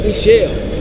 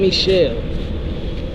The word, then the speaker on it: Mishael: My name is Michelle. See? I pronounce it Michelle.